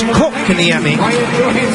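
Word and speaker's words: Kotkaniemi: And the key is, in Finnish, yes, Barry, you pronounce the first part of the first name, you magnify that, and then it's Kokaniemi.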